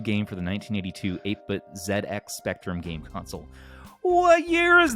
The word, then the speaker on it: ZX Spectrum: the zx spectrum which damien helped me with the pronunciation of that because i was calling it the zx spectrum for my whole life and apparently it is the zx spectrum savison has released a